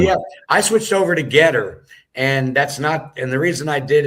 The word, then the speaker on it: GETTR: the most effective on Getter. So if anyone is on Getter, that's spelled GETTR, and it'll be at